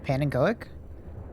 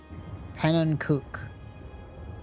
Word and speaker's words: Pannenkoek: It's Dutch for pancake. It's pronounced pannenkoek.